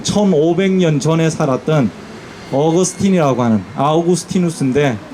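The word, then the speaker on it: Augustinus: 기독교 신학자들 중에 어 지금으로부터 한 1500년 전에 살았던 어그스틴이라고 하는 아오구스티누스인데 어 우리는 이제 미국을 좋아하니까 미국식 발음으로 어거스틴이라고 불러요.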